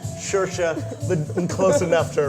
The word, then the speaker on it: Saoirse: I'm just happy I pronounced Saoirse close enough to right. Saoirse. Yeah, Saoirse.